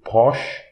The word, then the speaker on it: proche: CH in French, we pronounce like English SH. So, proche. So, we don't pronounce the I at the end. We pronounce the CH.